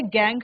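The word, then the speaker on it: gangue: गैंग कहा जाता है। स्पेलिंग है जी ए एन जी यू। ये स्पेलिंग थोड़ा सा डिफरेंट है।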